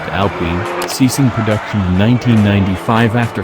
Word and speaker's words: Alpine: If there's a hint of petrol in your veins, you might recall the original Alpine A110.